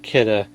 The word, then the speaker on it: Kidde: That's right, it's pronounced Kidde.